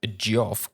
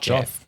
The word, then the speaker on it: Geoff: of course you have gioff keeley's video game awards i mean that's how you say it it's not jeff jeff is j-e-f-f josh does gf john